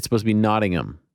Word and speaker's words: Nottingham: it's supposed to be nodding them like you don't you don't pronounce the h we got a lot